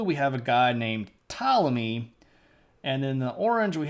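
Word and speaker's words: Ptolemy: they looked like this this guy is named tmy and it's spelled with a p and I'm tying it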